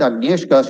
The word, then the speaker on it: Agnieszka: So even if I don't tell it in that right Polish accent, Agnieszka, she's going to get wild with me.